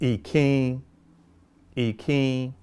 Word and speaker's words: Ìkín: your mouth so it's a nasalized in. So the proper way of saying e king is e king een like that.